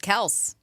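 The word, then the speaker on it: Kelce: They said it's just Kels. Have you heard that? Oh, yes, I have heard yeah, that. Kelsey. Yeah, It's apparently. supposed to be Kels.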